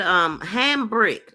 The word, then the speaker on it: Hambrick: She said ham brick. So it's spelled ham and brick.